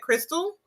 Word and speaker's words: Krystle: pronounce your name correct because it's k-r-y-s-t-l-e is that Crystal okay there we go